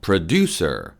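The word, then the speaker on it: produce: 떨어지는 거예요 그리고 중요한데요 프로듀스 분위기 있어 듀에 강세가 있습니다 우리나라 식으로 프로듀서 프로듀서 이렇게 하지 마시고요 원어민 들한테 얘기할 때는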